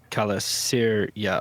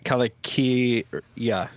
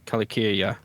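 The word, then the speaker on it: Calacirya: I was pronouncing Kyria as Kalasyria or something like that. So is it always a hard C whenever it's a C like that? I think so. Kalakyria? So yeah, Kalakyria. Yeah, Kalakyria.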